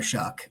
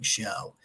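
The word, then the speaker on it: Shough: of love for Tyler shuck on his Thursday podcast I'm so glad that I listened to that and heard how to pronounce it because I was saying show Sam knows that I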